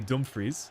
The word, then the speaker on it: Dumfries: Dumfries getting involved. Or maybe Dumfries would be the proper pronunciation.